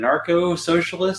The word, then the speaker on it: anarcho-socialist: What is is it anarcho-socialist? Is that the correct way to pronounce it? Yes.